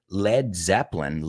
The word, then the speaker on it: Led Zeppelin: Like, por eso el grupo Led Zeppelin, lead se escribe plomo, L-E-A-D. Sin embargo, también en inglés es to lead, llevar o guiar. Mhm. Entonces, no querían que la gente, antes de que fueran famosos, dijeran Led Zeppelin.